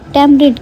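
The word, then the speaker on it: tamarind: इमली को टैमरिंड कहते हैं, टैमरिंड। यहाँ पर जो ए है हमारे पास ये साइलेंट होगा, टैमरिंड, टैमरिंड।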